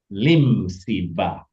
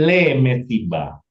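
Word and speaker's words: לִמְסִבָּה: Lim siba. Asep, oke? Jadi bacanya lim siba. Untuk party, ya, bukan le mesiba. Betul tulisannya le mesiba, tetapi bacaannya lim siba.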